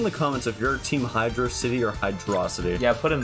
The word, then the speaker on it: Hydrocity: no not sauc City saity that's how people pronounce Hydro hydrocity in Sonic bro hydrosity yeah it's so uncomfortable when people say that when people say h yosity or Hydro City hydrosity what and how does that make me